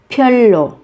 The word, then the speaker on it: 별로: 별로, 별로, 별로. Một cách đặc biệt, các bạn phát âm giống với âm L.